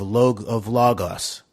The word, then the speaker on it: logos: We're usually just think about psychological warfare, but that hooks into this Greek category of logos, I think it's pronounced, psychological warfare, meaning based